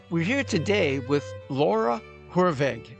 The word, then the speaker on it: Hoorweg: We're here today with Laura Hurve. Am I pronouncing your name properly, Laura? Yes, you are. You're actually probably closer to the actual Dutch pronunciation than most people.